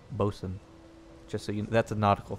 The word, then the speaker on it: boatswain: by the way it's it's spelled boatswain but it's actually pronounced bosun just so that's a